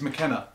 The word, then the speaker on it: McKenna: It's McKenna. McKenna. Yeah. McKenna. McKenna. Why did I say McKenna? That's too easy. It sounds like a Scotch.